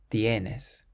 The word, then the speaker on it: tienes: This next word ends in an S, so the sun rule says we have to stress the syllable before last. Tienes.